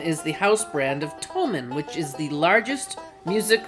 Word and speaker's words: Thomann: Is it pronounced Thomann, I think? Wrong. It's Thomann.